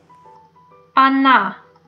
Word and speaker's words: она: in this pronoun Anna the first letter is O but we pronounce it like ah Anna Anna okay the next